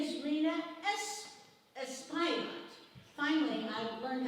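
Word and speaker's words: Rhina Espaillat: Her name is Rena Espillat.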